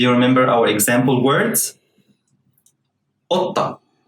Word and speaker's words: قطة: قطة. قطة. Here's the cough is pronounced like a glottal stop.